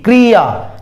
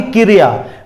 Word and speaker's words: क्रिया: क आधा है, र को ई की मात्रा है, क्री, क्रिया, ना कि क्रिया। बहुत लोग बोलते हैं क्रिया, क्रिया नहीं होता, क्रिया होता है।